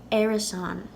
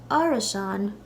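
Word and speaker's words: árasán: in theory in Ulster this word could be pronounced Arison now the second a with a father at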